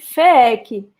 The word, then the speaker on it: FEEC: Orson, a gente pronuncia aqui FEEC, Federação Espírita do Estado do Ceará. Não confundir com FEC, porque FEC é Federação Espírita Catarinense. Então, a nossa é FEEC.